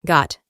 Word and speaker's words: got: En el pasado simple es got. La O se pronuncia aproximadamente como una A.